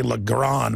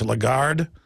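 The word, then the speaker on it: Lagarde: exempt from the taxes uh how do you pronounce her name I always say lron but it's legard the point is is that the police have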